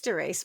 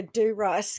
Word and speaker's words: Dorice: It is Darice. But I heard someone I think Stephanie Harow kept calling her D Rice cuz she does. I was going to say that's exactly what I was going to say. It could be D Rice.